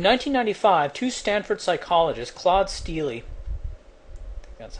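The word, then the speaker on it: Steele: scores quote in 1995 two Stanford psychologists Claude stey that's how it's pronounced and Joshua Aronson demonstrated that African-American college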